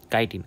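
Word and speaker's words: chitin: এইচ আইটি আই এন অনেকে এটার চিটিন চিটিন পড়ে বাট এটা কিন্তু চিটিন না এটা কি কাইটিন আমাদের ইংলিশগুলা হালকা করে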